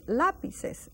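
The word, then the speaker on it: lápices: laes Unos laes now you have to remember that ACC that Accent on the a it's a strong a lapes Unos laes and this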